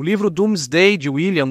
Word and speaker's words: Domesday: o passado da Inglaterra é pronunciado doomsday mas escrito domesday d o m e s d a i não porque os dormos não sabiam soletrar mas porque D era D antes do grande deslocamento de vogais assim o rei